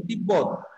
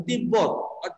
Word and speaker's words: তিব্বত: যদি ব ফলা উচ্চারণ হয় তাহলে ব এর উচ্চারণটাই দুইবার হবে যেমন তিব্বত কি বললাম তিব্বত তিব্বত তাহলে দেখো তয় শিখে